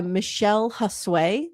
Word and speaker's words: Michele Josue: So this documentary is done by Michele Josue. That's how she pronounces her name.